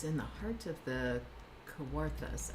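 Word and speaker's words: Kawarthas: I don't know if I'm saying that correctly. Heart of the what? Koworth. How do you spell it? K A W A R T H A S. Um but it's Ontario. Oh, CJ says I did it right.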